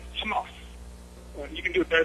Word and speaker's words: Hamas: I often see people using the Israeli pronunciations of Arabic term terms um like Hamas or hisbah you know these these are all Israeli accents you know in Arabic you say Hamas you can do it